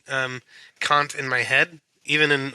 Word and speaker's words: Kant: of going over today well it's Kant okay like I I can't do it captain Oh that's not